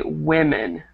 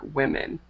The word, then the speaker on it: women: a little bit strange we pronounce the O similar to like an I but remember it's like women okay and then this